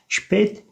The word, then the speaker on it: spät: Spät geç demek, sıfattır. Noktalı A, umlautlu A, E şeklinde okunuyor arkadaşlar.